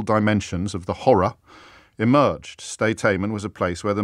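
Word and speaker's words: Sde Teiman: I can tell you that the place where this torture took place was, and I'll probably mispronounce it, Steiteimen.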